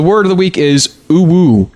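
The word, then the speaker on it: UwU: Ooh-woo. It's spelled U-W-U.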